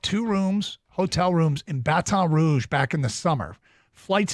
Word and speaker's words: Baton Rouge: Arbor I'd booked two rooms hotel rooms in Baton Rouge back in the summer flights into Baton Rouge